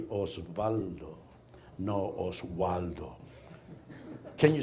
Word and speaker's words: Osvaldo: And my name, you spell it O-S-V-A-L-D-O. Say Osvaldo, no Osvaldo.